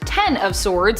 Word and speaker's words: X of Swords: it kind of was x of swords pronounced ten of swords in relation to the tarot card is a mutant event